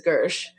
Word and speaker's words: Gershe: up Michael Kirsch but his last name is really spelled like it's pronounced Hershey but it's Gersh but just so if